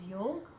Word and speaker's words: योग: But correct way of writing is वाई ओ जी ए और उसे pronounce करेंगे योग। उसे योग ही प्रोनाउंस करेंगे। योगा नहीं तो सही प्रोनाउंसिएशन है योग।